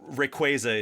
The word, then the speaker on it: Rayquaza: Uh, although Rayquaza is the official pronunciation I learned from Sarah Natenny when she came on the podcast.